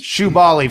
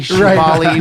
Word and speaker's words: Shubaly: Shubaly for a million people is Shubaly. Spelled like it sound. Yeah. Yeah. Well, that would be SHOO. There's a million ways it sounds. It could be like Jubilee, Shubaly with Jubilee.